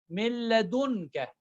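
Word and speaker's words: من لدنك: For the Yarmaloon, amongst the Yarmaloon, the Ra and Lam will not have gunna. Will not have gunna. For example, if I give a shadda, it's like you can give a shadda. Milladunka, milladunka, millad. I'm clearly pronouncing lam. Milladunka. Mir Rabbi. I'm not pronouncing noon.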